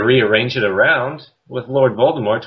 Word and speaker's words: Voldemort: it around with Lord Voldemort why does the tea become silent in that case I'm assuming it's her